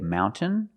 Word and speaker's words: mountain: understand this trade example mountain mountain you can say mountain or Mountain this gril tablets speaks